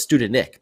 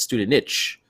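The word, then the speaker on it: Studenič: student itch student i i thought it was student nick but it's student niche so he's at the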